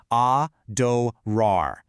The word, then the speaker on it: adorar: Looking at the mechanics here, we start with this open ah sound, exactly like in the word father. Then a soft D, like in dog. But the real magic, that happens at the end. There is an incredibly strong, powerful stress on the final rar.